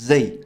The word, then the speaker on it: XE: is a gender-neutral pronoun and it's pronounced Z so tip of the